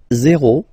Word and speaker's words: zero: Zero. Zero. Okay, so remember, you get this z and then e accent aigu, zero.